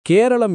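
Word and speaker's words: കേരളം: கேரளா என்ற பெயர் பிரிட்டிஷ் ஆட்சியின் கீழ் உருவான பெயர் என்பதால் கேரளாவின் உள்ளூர் உச்சரிப்பான கேரளம் என்றே அதிகாரப்பூர்வமாக அழைக்கின்றனர்.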